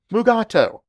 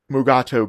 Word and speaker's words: Mugato: credits but what's this the name gumato was actually used in the later scripts of this episode however deforest kelly could not pronounce the name correctly so they changed it to mugato but unfortunately during the entire filming both shatner and kelly pronounced the name as mugat2 all the way through the episode now five decades later